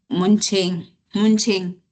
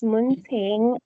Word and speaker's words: Munting: Munching. Sorry for pronouncing your name wrong. Yes. It's okay. It's Munting, and good morning.